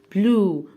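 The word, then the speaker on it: blue: حرف الاي انطقه في الاخر؟ لا، بلو بلو بلو.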